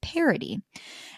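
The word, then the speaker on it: parity: And there's something at like in the technology and project world called parody. And it's spelled P A R I T Y.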